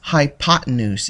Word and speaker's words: hypotenuse: the longest sign yes that's a funny word hypotenuse is how you pronounce that the hypotenuse is always the longest